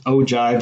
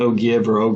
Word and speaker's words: ogive: graph that depicts cumulative frequencies I hit yes oh jive is the way it's pronounced not okay not oh give that's Oh judge um I never heard of